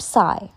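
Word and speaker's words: xì: shh, with a deep sigh, which is associated with the liver. He, pronounced like her, with a yawn, which is associated with the heart. Si, pronounced like sir, with a slow exhale, which is associated with the lungs.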